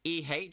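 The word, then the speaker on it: え: But it is pronounced as in like EH, you're going like like egg, like egg. Like you pronounce it as you would say egg.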